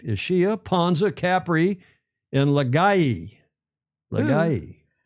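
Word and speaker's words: Ischia: Is I S C H I A. Last last ishia. Correct. Isia Panza.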